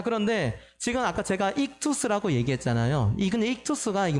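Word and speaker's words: ΙΧΘΥΣ: 옛날에 고대 그리스어로 이제 쓰였던 건데, 이것을 발음 그대로 읽으면 어떤 발음이냐면, 익투스라고 해요.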